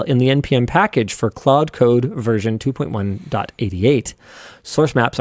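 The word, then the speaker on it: Claude: Anthropic, the company behind cloud, which is how I pronounce it, accidentally leaked the entire source code of cloud code, their AI powered coding assistant on March 31st.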